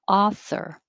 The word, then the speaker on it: author: clear 38 author author forget about the you it's not ow but ah author proactive proactive presence it